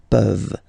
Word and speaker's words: peuvent: Okay, as usual, this ending, this ENT ending, you write it, you don't pronounce it. Okay, peuvent.